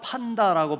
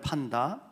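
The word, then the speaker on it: πάντα: 여기서 모든 것 이걸 헬라어로 판다라고 발음하는데 판다.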